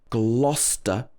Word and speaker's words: Gloucester: worcester and worcestershire worcestershire and then gloucester not glow but glo gloucester and gloucestershire the spelling is